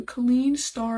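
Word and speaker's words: Kleene star: So it says one way to express such a pattern would be to use what is known as the clean star and the clean plus which essentially represents zero or more or one or more.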